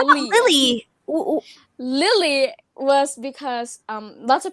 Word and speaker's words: Lilli: It's not like Lily as in the flower, but it's like Lily.